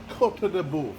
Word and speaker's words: Côte de Boeuf: Côte de Boeuf. Now, I don't know how to spell it, but that's how you say it.